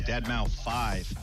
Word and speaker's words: deadmau5: your good friend joel professionally known as deadmau5 yes that is the correct way to pronounce it tell your friends we're